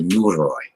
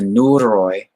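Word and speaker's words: Neuroi: a group called the new Roy now the new Roy is spelled n EU ROI it's an ancient shamanistic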